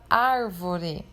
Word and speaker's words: árvore: Por exemplo, a palavra árvore. A sílaba ar, que é a primeira ali no caso desta palavra, e a antepenúltima é a mais forte, é acentuada.